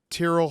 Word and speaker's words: Tyrrell: welcome on a very special guest it is Tyrell Hatton I said that to myself about a